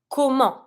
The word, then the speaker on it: comment: am I getting there how Kum this one careful on Sound Don't pronounce the T how in what for